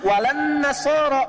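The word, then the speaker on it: النصارى: Cuman kita bacanya pakai eh kan alif lamnya syamsiyah tuh ya. Lamnya masuk ke nun. Walan nasaro. Padahal itu tulisannya la. Wala annasara.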